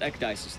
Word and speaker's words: Ecdysis: story play it yeah my name is pronounced ecdysis though that is how i pronounce it alright dices but ecdysis